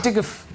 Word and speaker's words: IDGAF: Diguf. Right. Yeah, you pronounce it like that.